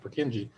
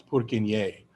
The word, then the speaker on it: Purkyně: name is not pronounced Purkinje. I had a Swedish roommate in Montreal and he's like, "It's not Purkinje. It's Purkyně."